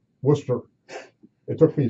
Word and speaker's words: Worcester: I also was a top editor in Rockland County, New York, smaller paper, and Worcester, Massachusetts, where I finally learned how to pronounce Worcester.